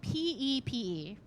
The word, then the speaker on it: Pepe: I spell it P-E-P-E. P-E-P-E. Pepe. Like Pepe Le Pew.